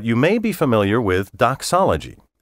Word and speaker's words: doxology: unusual words but you may be familiar with doxology spelled do XO l OG y doxology combines